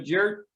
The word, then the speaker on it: Jerr: in orange beach alabama jer thanks for coming on yeah it's jer people it's a weird name j-e-r-r people have you know